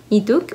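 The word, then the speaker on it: Leeteuk: es la sonrisa de Lituk. No sé si decirle Ituk o Lituk, porque sé que se pronuncia como si fuera Ituk.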